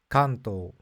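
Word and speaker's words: 関東: to be helpful said you pronounced Kanto incorrectly the correct pronunciation according to the person is Kanto but I'm 1,00% sure that I'm right according to the Tokyo dialect it's Kanto I asked this young person where are you from and they said I'm from Nagoya ah so maybe Nagoya they pronounce it that way but in Tokyo it's Kanto and when I said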